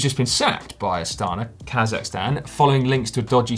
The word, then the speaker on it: Kazakhstan: No, they put Q's in it, but it's still Kazakhstan, the pronunciation.